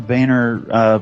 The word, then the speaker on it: Boehner: I think John Boehner prefers his name pronounced Boehner, but to your point,